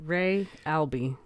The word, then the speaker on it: Re Albi: I was pronouncing it. Yeah, Ray Albi.